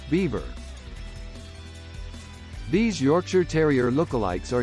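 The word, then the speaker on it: Biewer: Though it bears no resemblance to the beaver, Bewer is pronounced beaver.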